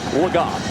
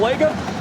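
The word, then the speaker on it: Legas: just got word that the preferred pronunciation of this quarterback is cooper lagott we've been saying lego a guy who wasn't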